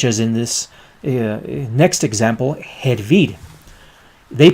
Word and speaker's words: hervir: in this next example, hervir. They pronounce it in the rest of Latin America and in Spain, hervir, hervir, but we say hervir, hervir. Hervir with a J, which is pronounced as a H.